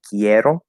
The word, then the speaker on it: quiero: sure um but so it's quiero quiero so the E is stressed um but so Spanish